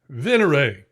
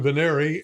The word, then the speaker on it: Venere: to pronounce words, so I typed in "Veneri" and that's how it came out.